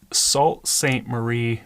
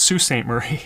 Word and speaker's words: Sault Ste. Marie: his property, which is Salt St. Marie, Michigan. So, he followed our system, identified I'm sorry, it's Sue St. Marie. It's spelled Salt.